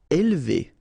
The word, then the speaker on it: élever: Élever. All right, so don't pronounce this here.